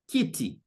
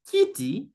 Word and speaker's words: kiti: The Swahili name for a chair is kiti. And the fact that the name kiti has only two syllables, the second last syllable in this case will be the first syllable, meaning my stress will be on the first syllable, ki. See, kiti, kiti, kiti. You see, so there's a stress on the syllable ki.